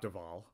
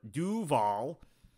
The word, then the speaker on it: Duval: residents of Broward right uh Duval County Jacksonville Duval not dval the people from other parts of the country pronounce it dval but Duval as we pronounce it down here um is